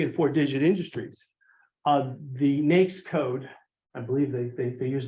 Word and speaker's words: NAICS: and 4-digit industries, the NAICS code, I believe they use the word, I think they believe it always rhymes with snakes, is NAICS.